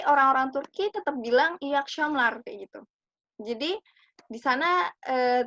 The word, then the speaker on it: akşamlar: Kemudian ada iyi akşamlar. Akşamlar. Nah, itu ada ş. Jadi bacanya iyi akşamlar. Jadi bukan iyi akşamlar ya, tapi akşamlar. Jadi akşamlar, iyi akşamlar kayak gitu.